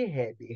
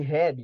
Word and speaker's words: Hebb: Gente, anotem esse nome aí, lei de Hebb. Hebb se escreve H-E-B-B. H-E-B-B.